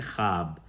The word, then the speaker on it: خواتین: پہلے خے ہوتا ہے، جو لکھنے میں تو واو آتا ہے لیکن تلفظ میں نہیں آتا، جیسے خواب میں ہم لکھتے ہیں خے واو الف بے لیکن ہم پڑھتے ہیں خواب۔ اسی طرح سے خواہش،